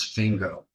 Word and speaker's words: Fingo: "My name is Fingo, dear lady. Rhymes with Ringo.